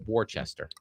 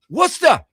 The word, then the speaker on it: Worcester: He might have said Warchester. Worcester.